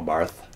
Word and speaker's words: Barth: then there's Marcus Bart spelled the same way as the famous Carl Barth Bart actually in German Marcus Barr two volumes